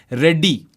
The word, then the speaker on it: Reddy: So the correct pronunciation, if we go by Varun, is Reddy. You have to kind of d पे ना focus करना.